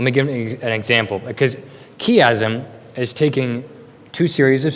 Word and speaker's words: chiasm: The first of which is chiasm, or some people pronounce it chiasm. It's spelled C-H-I-A-S-M.